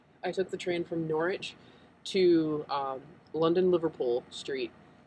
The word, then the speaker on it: Norwich: the train from Norwich it was not pronounced Norwich it was pronounced Norwich me and my infinite americanness um I took the train from norch to um London Liverpool